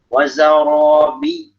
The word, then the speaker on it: وزرابي: Nah, jadi untuk ya dan waw bertasydid itu masuk number ya. Wazarobi. Jadi jangan wazarobi biyu. Nanti kayak seakan-akan ya ini cuma satu. Padahal itu yang dua.